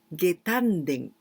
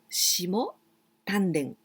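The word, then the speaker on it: 下丹田: so it means the lower part, and tanden, getanden. This is one of the tanden, the most important tanden, getanden. But there are many ways to say this part. We can also pronounce shimo tanden, the same kanji, shimo tanden.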